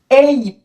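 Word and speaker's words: ape: সো এটি হবে এইপ। কি হবে? এইপ এইপ। লাস্টের ই উচ্চারিত হবে না।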